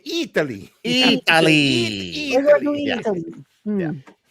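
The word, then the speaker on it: Eataly: It's spelled like E-A-T. Yeah. Oh, E-A-T. Oh boy. You have to say it Italy.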